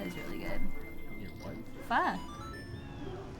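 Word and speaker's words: phở: Pho, cilantro, and you're like pho is really good. Your what? Pho, like the Vietnamese noodle soup.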